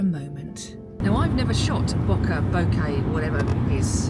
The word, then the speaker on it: bokeh: Bokeh. Why is it not focusing on you? Because you're more important. This is your show. This is my show. Bokeh. I've pronounced it wrong always beforehand.